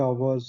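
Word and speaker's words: hours: सो जैसे कोई वर्ड आ गया वर्ड्स beginning with अ silent H. जिस कोई ऐसा वर्ड जिसमें एच साइलेंट होती है। जैसे एंड आवर्स an honest N ए hair.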